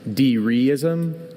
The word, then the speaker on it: dereism: Can you repeat both pronunciations? Dereism, dereism.